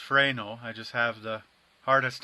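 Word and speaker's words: Fresnel: a little bit of fresnal Applied which remember is actually pronounced fral I just have the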